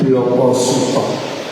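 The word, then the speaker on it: blaka suta: ya bahasa Jawa itu huruf A itu dibaca O. Jadi kalau di tema umum ditulis belaka suta itu bacanya bloko sut.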